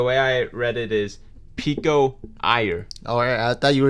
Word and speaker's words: Pico Iyer: I don't know if this is going to be how you pronounce his name, but the way I read it is Pico Iyer.